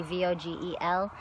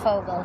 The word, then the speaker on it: Vogel: pronounce it vogel or you can get the correct fogal sound by changing the v's to an f in english but eh this isn't